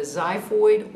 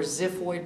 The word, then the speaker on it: xiphoid: You have the manubrium, you have the body, and then you have the xiphoid or ziphoid process. You can spell it X-I or X-Y.